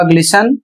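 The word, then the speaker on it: glisten: इसमें कह रहा है कुछ कॉमन स्टैंडर्ड वर्ड्स में टी साइलेंट रहता है।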